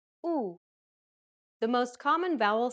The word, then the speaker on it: ου: This double vowel is pronounced like the double O sound in the word pool. Listen to how Stefania pronounces this vowel sound. U, U, U, U.